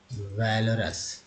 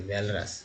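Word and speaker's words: walrus: Next है Gibbs, वैलरस, sorry वैलरस। यहाँ ए का उच्चारण ए के रूप में हुआ, जबकि यहाँ वाला ओ का उच्चारण जो है अ के रूप में हुआ है, तो हुआ ना वैलरस।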